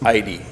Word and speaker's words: Eide: Sorry, I messed up your last name there. The pronunciation is Eide.